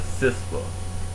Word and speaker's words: CISPA: to sofa is considered known as sispa which is spelled c IPA and it's another Bild